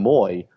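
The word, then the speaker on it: Mooy: a 50th minute curling effort from Aussie Aaron Moy spell mu but pronounced Moy the difference for David Wagner's men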